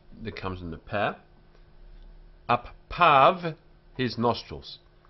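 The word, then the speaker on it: אַפָּיו: Appav, his nostrils. We pronounce this as av, av, and this yud is ignored.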